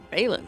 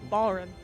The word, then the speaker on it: Balrin: of Balin's 4 hour Balin. Oh, sorry. Balrin. Balrin. Sorry. Bowery. It's the way it's spelled. My freaking brain moves the letters around. Yeah. It takes the R out.